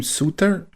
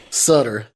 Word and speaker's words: Sutter: some nazis call him suter yeah i will continue calling himself sutter sutter rhymes with utter the leader of the